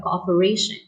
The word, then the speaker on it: cooperation: Just like for the first word, you have cooperation. So the stress or the syllable that you have to pronounce stronger would be the fourth one.